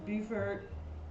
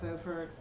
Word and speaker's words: Beaufort: I wondered if you would consider to berth in Beaufort, or is that Beaufort, because they're both spelled the same, or Hilton Head, to reduce costs in Florida, insurance and better slippage rates and amenities.